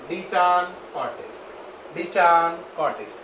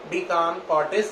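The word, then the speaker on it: De Chancourtois: कई लोग कान को CHAN को कान की जगह CHAN चैन भी बोलते हैं, डी चैन कॉर्टिस, लेकिन इसमें सही प्रोनाउंसिएशन डी कान कॉर्टिस ही है।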